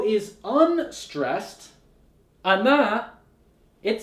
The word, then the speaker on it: она: When O is unstressed, ana, it sounds like a. So in this word, the stress is on the letter a.